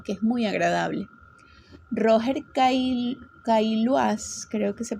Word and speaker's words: Caillois: Roger Caillois, creo que se pronuncia así, Caillois se escribe, Caillois, el antropólogo